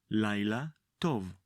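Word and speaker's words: לילה טוב: The first word is Night and in Hebrew we say láyla. Like in the previous phrases, the second word is also tov. láyla tov.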